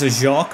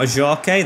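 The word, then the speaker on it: Ajorque: It's a Jork, not a Jorke. The E is silent, as on my days, our fans could be silenced.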